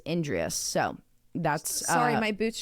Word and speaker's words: Endres: It's spelled, her last name is spelled Endres. And so like naturally I'd be like Andreas. But the way that they pronounced it on like every interview I saw was Endres.